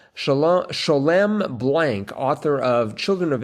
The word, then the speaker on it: Sholem: Sholem Blank, author of Children of Abraham. And Sholem says it's not Shalom, it's Sholem.